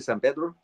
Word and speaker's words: San Pedro: in s San Pedro where they say San Pedro in my the way I would pronounce it San Pedro you know since I have a Spanish tongue right um but uh